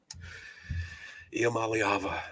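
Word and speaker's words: Iamaleava: Iamaliava.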